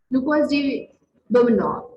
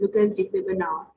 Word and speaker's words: Lucas de Beaumanoir: Lucas de Beaumanoir. These are the French names, so their pronunciations are very different. Lucas de Beaumanoir.